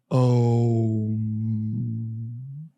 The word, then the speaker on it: Om: And then on top, the Chandra and Bindu is So the correct way to pronounce Om is Om.